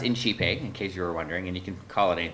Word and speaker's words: INCiPE: like go ahead and begin and um it's pronounced inchipeg in case you were wondering and you can